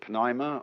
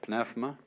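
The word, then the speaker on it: πνεῦμα: The Greek word, you may pronounce it pneuma or pneuma, is the same as spirit.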